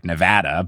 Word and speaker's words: Nevada: And, apparently I think everyone says Nevada wrong because it's actually Nevada.